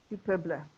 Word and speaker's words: Du Peuple: Do you pronounce it Du Peuple? Yep, that's it. Du Peuple.